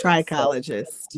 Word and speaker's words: trichologist: Trichologist.